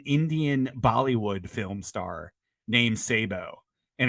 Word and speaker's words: Sabu: star named Sabo and it's spelled Sabu s-a-b-u just like the wrestler so yeah yeah uh I don't yeah and I'm almost I I'm almost positive it's pronounced Sabo I don't think it's stab here because I think because